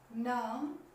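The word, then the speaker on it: numb: इसका मतलब ये हुआ कि अगर ठीक बी से पहले एम आ जाए तो बी साइलेंट रहेगा। ये कह सकते हैं एम के बाद बी हमेशा साइलेंट रहेगा, बोला नहीं जाएगा।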